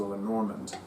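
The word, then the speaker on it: Lenormand: Lenorand if you prefer, I I I have difficulty Americanizing the pronunciation because I took two years of French in high school. So, for me, it's more natural to say Lenorand as opposed to Len Normand.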